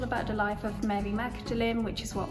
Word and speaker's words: Magdalene: and it's all about the life of mary magdalene which is what modelling college is named after don't ask about why it's pronounced differently that's just something else but yeah